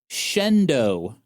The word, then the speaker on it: Shenandoah: Penney opened some stores in Ely, Nevada and Shenandoah, Pennsylvania. Mhm. Uh apparently, that's not how they're pronounced. It's actually Ely, Nevada Uh-huh. and Shendo, Pennsylvania.